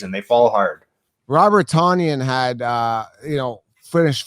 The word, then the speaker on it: Tonyan: looks like a north american name yet it's pronounced differently no it's tonyan that's how t-o-n-y but they're pronouncing it do